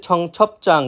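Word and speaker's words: 청첩장: এরপর রয়েছে ছং ছপ চাং। বিয়োপের পরে একইভাবে জিউত থাকার কারণে চাং জিউত উচ্চারিত হয়েছে, যার অর্থ বিয়ের নিমন্ত্রণ কার্ড।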